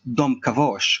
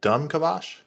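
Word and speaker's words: Dom'Kavash: in the in Discovery they it has been pronounced Dom kavosh or Dam cavosh but actually uh in the game lore in the intro it is pronounced yep like a like a use like a like dumb kabash oh yeah I thought you were joking at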